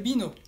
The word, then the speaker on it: vin: Y si quieres alcohol, puedes pedir una cerveza, une bière, o también puedes pedir vino. Vino se dice du vin, con la V francesa y la nasal 1, entonces du vin.